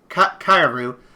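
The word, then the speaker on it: かえる: So, in Japanese, the word frog is pronounced as make sure I get this right here, kairu, which means frog, but it's also a homophone.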